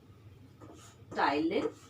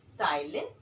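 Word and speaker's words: ptyalin: which is known as thailand the p here is silent so it's stylish or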